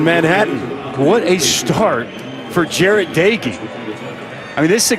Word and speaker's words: Jarret Doege: Jarret Doege. It's pronounced Doege.